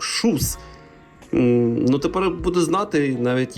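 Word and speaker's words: Kjus: цікава курточка від бренду хоч вона і пише Джус по факту але сам засновник олімпійський чемпіон ласе Джус Він каже що треба вимовляти як шус Ну тепер буду знати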